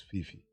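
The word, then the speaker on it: Phiiphi: check my name well it's p h double i p h i which is fifi but you know me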